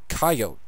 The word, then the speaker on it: coyote: everything there are localisms one example is the word coyote it's a colorado wyoming if you come from the east you're more likely to say coyote i say coyote i actually do say